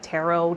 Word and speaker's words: Tarot: called it Turo and that is closer to the french pronunciation so that spoke to